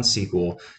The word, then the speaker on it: SQL: sql stands for structured query language but it's pronounced like the word sql okay so we rely on sql to pull information from a database to query